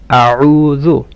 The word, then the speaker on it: أعوذ: أعوذ بالله من الشيطان الرجيم. The عين should be from mid of the throat. أعوذ. And the ذال should be soft. أعوذ، not أعوذ.